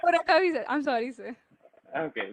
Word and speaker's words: Gorakavi: This is Gorakavi. Daksha Mirmali, you have pronounced my name wrong. The last time when I participated in Srinidhi event, it was again called Goka Ravi and Anaru. I am Gorakavi.